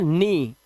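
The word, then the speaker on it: knee: इसी तरह से घुटना जो होता है हमारा, इसे हम पढ़ते हैं नी।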